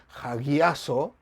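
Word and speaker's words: ἁγιάζω: una semejanza una cercanía la pronunciación dice que es hagazo y este es el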